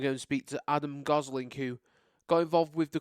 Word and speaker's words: Gosling: Joined by Adam Gosling, pronounced like Ryan Gosling, I believe.